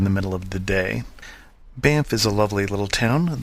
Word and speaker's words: Banff: Banff is a lovely little town. There is no truth to the rumor that you try and pronounce both F's in the word Banff, as my family sometimes does.